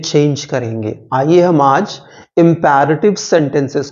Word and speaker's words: imperative: उनको हम कहते हैं इंपैरेटिव सेंटेंसेस। याद रखिएगा, इंपरेटिव नहीं कहते हैं। Generally people pronounce it एज imperative. Even teachers do pronounce it, but it's absolutely wrong. So you'll pronounce it as imperative.